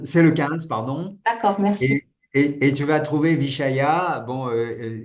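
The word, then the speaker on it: viṣaya: le 15 pardon d'cord vichaya bon en sanscrit ça s'écrit V i s avec un point mais ça se prononce Che vichaya a y a et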